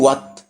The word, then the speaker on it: what: حرف الاتش ممكن يجي وما يتنطقش، وعادة لما بيكون قبليه حرف الدبليو، وعادة برضو هتلاقيه في أدوات الاستفهام اللي هي question words، أدوات الاستفهام أو كلمات الاستفهام. زي إيه؟ زي what, when, where, why. هتلاقي هنا الدبليو بتتنطق، الاتش ما بتتنطقش.